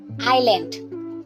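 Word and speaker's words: island: আইল্যান্ড। এই ওয়ার্ডটিতে এস লেটারটা silent থাকে।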